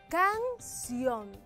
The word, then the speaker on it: canción: cuando pronunciamos una palabra canción entonces según la pronunciación de esta palabra la fuerza está en la última sílaba en la última sílaba por ende esta palabra dentro de la clasificación es aguda vamos a ver si